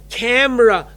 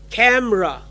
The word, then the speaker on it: camera: Remember, camera, no, 2 syllable, 2 sound, camera.